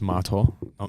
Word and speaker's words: Marto: It's Marto, not Marto as in like Adam Martin.